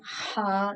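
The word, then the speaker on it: ح: Now ha this is pronounced from the top part of the throat, like you can like feel your in the throat itchy like ha, but not too much.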